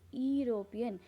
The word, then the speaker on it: European: European, again, when we pronounce the word European, the spelling is EUROPEN. The first letter is E, but E, it is not pronouncing. We are not able to pronounce European. We are pronouncing it as European. That is why a is added before that.